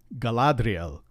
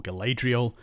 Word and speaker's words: Galadriel: always a and the letter a is always pronounced a and not a or a and so technically it's Aragon and Galadriel and faramir not Aragon Galadriel or galadrial and not phir another thing to watch for